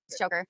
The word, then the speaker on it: Choker: Did I pronounce that right, Choker? Yeah. He put that phonetically in there. I was asking him. I feel like it's Shokar or something.